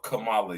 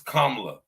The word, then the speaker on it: Kamala: she pronounced her name she doesn't call herself Kamala y'all do her name is kamla her name is kamla kamla she's not black it's not Cala she's Indian it's kamla and I would go